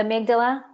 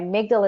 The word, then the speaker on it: amygdala: What is it, the amygdala? She wants you to repeat the information that you had mentioned about that. So phonetically, it's Amy G. Dala.